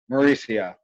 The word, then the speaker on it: Mauricio: Mauricio.